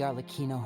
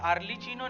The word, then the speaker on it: Arlecchino: All of us house members here, Lady Arlecchino herself included, are from Fontaine. We won't give up on defending our homeland. Wait, ये Arlecchino नहीं है, Arlecchino है इसका pronunciation.